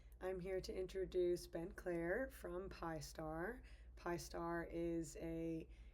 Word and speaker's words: Clare: My name is Ben Clare, pronounced the same way as Claire's name.